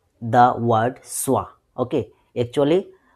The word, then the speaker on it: schwa: Uh but before that you know who is the boss of English sound English letter sound the word swah. Okay actually s c h w a swah the pronunciation of I mean what is the swah sound?